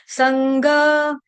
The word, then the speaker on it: संग: ठीक है, संग, ग, ग कौन सा? गमले वाला, संग विवर्जित, यहाँ पे संघ, घ घड़े का नहीं आने देना, ग गमले का आएगा।